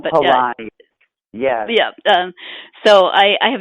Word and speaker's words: Palahniuk: Is it Palahniuk? I can never remember how to pronounce his last name. But Palahniuk.